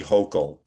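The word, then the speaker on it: Hochul: thank you to Governor Kathy Hochel, if that's how I pronounce her name. I live in France. Yeah, Hok. It's not a French name.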